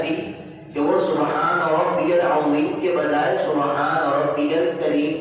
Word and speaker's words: العظیم: دی کہ سبحان ربی العظیم، یہ درست تلفظ ہے، اس کے اندر سیٹی کی آواز نہیں آنی چاہیے۔ بعض پڑھتے ہیں سبحان ربی العظیم، عظیم پڑھتے ہیں، عظیم کے معنی کچھ